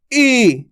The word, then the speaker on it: ई: इसकी उल्टी होती है इसका उच्चारण खेच के होता है ई कैसे होता है ई